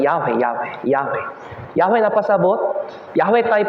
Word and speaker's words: Yahweh: Sa Hebrews, Yahweh. The pronunciation kay Yahweh.